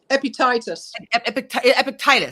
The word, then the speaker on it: Epictetus: If I'm pronouncing his name right, a Greek Stoic philosopher. So Epictetus.